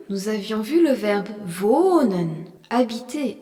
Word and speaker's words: wohnen: Dans la leçon 1, nous avions vu le verbe wohnen, habiter, où le H prolongeait la voyelle O.